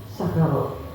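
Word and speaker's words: سَكِرَ: Ada kata dengan shin besar, syakaro, ya, syukrun, atau dengan sin kecil, sukrun atau sakaro, ya, ada syakaro, ada sakaro. Maka itu ketika kita beda mengucapkannya atau beda membacanya, maka akan berbeda juga artinya.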